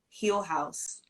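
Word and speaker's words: Heal Haus: funding for therapy um heel house um which is spelled here h-e-a-l and then space h-a-u-s and they're based in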